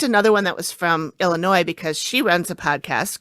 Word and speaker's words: Illinois: states of Iowa and Illinois, Davenport and Bettenforth, and southeastern Iowa, and Rock Island, Moline, and East Moline in northwestern Illinois.